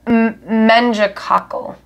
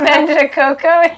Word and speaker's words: meningococcal: Meningococcal. Oh my god, I've been saying it wrong since I was a kid. I was just like meningococco.